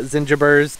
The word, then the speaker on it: zingiber: This year is going to be very heavy on the gingers, but these are all zingibers. I hear people pronounce it differently, but zingiber, mioga, it's a hardy ginger, and they are in teeny, teeny, tiny little pots.